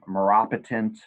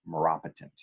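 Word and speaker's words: maropitant: for pain and again it's pronounced Maura patent or some people like me say marrow pit n't I guess technically it's pronounced Marat patent as a side note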